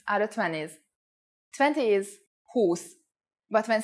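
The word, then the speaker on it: húsz: the pronunciation for example 20 is who's with a long u but 21 is who on Ed with the U pronounced short four is n but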